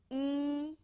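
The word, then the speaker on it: 一: us started number 1 e please read out to me very good E is so easy sounds like the English letter e you got right on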